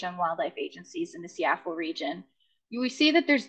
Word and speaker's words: SEAFWA: and Wildlife Agencies, which I'll refer to as SEAFWA. Although I hear folks in Louisiana last summer telling me it's pronounced SEAFWA, so we can argue about that during the Q&A session.